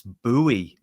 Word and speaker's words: Bowie: was a story and I just said Bowie knife as in David Bowie right but then that then people go no no no no no so it's buoy it's buoy now it turns out when I've done a bit of research on this and not everybody in the USA says buoy some people say B owie and Bowie and buoy but the people who